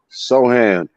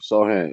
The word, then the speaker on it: Sochan: pronouncing his name right so Hand s so to see you silent his name I guess so yeah Sohan it's like Jeremy Sohan I mean he got